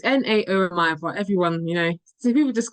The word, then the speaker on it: Naomi: it's Naomi, but everyone, so people just quote different things.